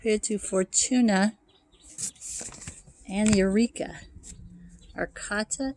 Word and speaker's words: Arcata: to fortuna and eureka arcata is another arcade i guess they pronounce it arcada it's a little town